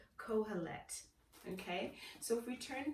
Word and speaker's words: Kohelet: a moment, if I can remember how to pronounce it. It's called Kohelet. Okay, so if we turn to the book of Ecclesiastes, Kohelet, K-O-H-E-L-E-T, and we're trying to figure out, why